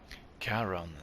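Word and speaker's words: Charon: the door is caron karen that's how it's pronounced i'm so confused by the ch combination okay so what's karen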